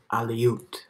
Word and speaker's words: Aleut: other alu is that a loot outlet looked very much like him okay i've been saying it wrong aliyut that's how it's from the other aleut